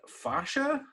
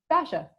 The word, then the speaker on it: fascia: Getting into, is it fascia? Am I saying that right? Fascia. Or I guess you could say fascia or fascia, however you want to pronounce it.